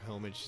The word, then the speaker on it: homage: Don't pronounce the H.